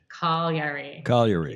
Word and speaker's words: Cagliari: Cagliari, yeah. Three syllables. I've been instructed by all my Italian friends.